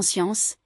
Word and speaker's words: science: On pourrait croire qu'on prononce SK comme dans Scarabé ? Et bien non. Par exemple dans science, scène et piscine, le duo SC devient Sège, le T dansion ciel.